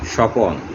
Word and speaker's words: স্বপ্ন: বফলা শব্দের শুরুতে কোনো বর্ণের সাথে যদি বফলাটা যুক্ত থাকে, ওই বফলার উচ্চারণ হয় না। যেমন স্বপন, স্বপ্ন, ত্বক ইত্যাদি।